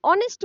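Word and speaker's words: honest: होता है ठीक है जैसे देखो यहां पे नेस्ट तो नहीं बोलते हम ऑनेस्ट बोलते हैं राइट एच क्या है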